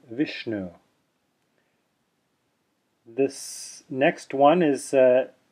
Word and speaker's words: Vishnu: together as in Shiva dot underneath the letter s means it's retroflex and it's sha as in Vishnu this next one is